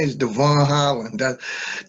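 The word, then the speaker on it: Djavon: uh my name is devon holland that the j in my name is silence uh spell d j a v o n but the j is silent yes listen you've had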